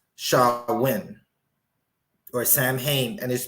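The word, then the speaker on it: Samhain: festivals of Sam WI a a gelic word pronounced sha win or Sam Hayne is pronounced shawin a pagan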